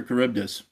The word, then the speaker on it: Charybdis: Because that's why because it's based on the Greek monster Charybdis.